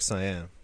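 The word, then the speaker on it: Caen: again C aen but I think it's a soft C cuz it's French yeah it's like it sounds like sayyan yeah okay uh W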